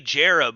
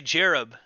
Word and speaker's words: Jarb: Yeah, Survival Outpost and Glow So Bright can't even pronounce Jarb. I mean, it's pretty simple. And there's news articles and there's videos that say Jarab over and over again. And then on my video I say Jarb.